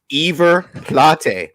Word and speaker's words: River Plate: By the way, it's River Plate. That's how you pronounce it.